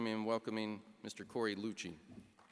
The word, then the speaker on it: Louchiey: Archie Roberts and our next our next guest is Corey Lucci as he reminded me it rhymes with Gucci he is a decorated